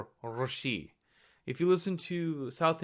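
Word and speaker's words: ऋषि: ru, It's a vowel, it's a retroflex vowel, and it's believed that it may be pronounced as r, Rishi.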